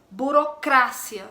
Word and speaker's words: burocracia: E em espanhol, burocracia, sílaba tônica é no cra.